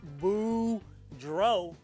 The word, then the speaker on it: Boudreau: my name is boudreau that's pronounced boo dro and i'm here to